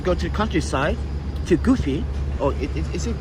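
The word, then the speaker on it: Gifu: Because when I was in Japan, that's one of my jobs when I used to go to the countryside, to Goofy. Or is it pronounced Goofy?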